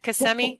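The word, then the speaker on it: Kissimmee: Casemi. CMI. Is that how you say it, you Flidians? Is it CMI? Yes, ma'am. Okay, good.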